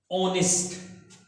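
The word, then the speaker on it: honest: और H यहां पे कोई साउंड नहीं दे रहा है। क्यों? क्योंकि ये क्या है? म्यूट है, साइलेंट है। म्यूट है, साइलेंट है। इसलिए जो साउंड आ रहा है वो किसका साउंड आ रहा है? साउंड आ रहा है वोवेल का, ऑनेस्ट।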